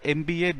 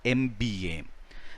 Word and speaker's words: MBA: But how do we pronounce it? M. What's the first sound? A. In other words, it has got a vowel sound. M is a consonant, but here it is pronounced as an MB. It is pronounced as a vowel, MBA.